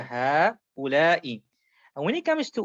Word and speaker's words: هؤلاء: So هؤلاء, but there's actually a small alif there. Sometimes shown, sometimes not shown. So therefore you pull a bit longer. هؤلاء.